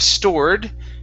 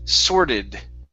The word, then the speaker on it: sorted: next up is okay the word sore sorted sorted instead of stored it's sorted so so so did uh-huh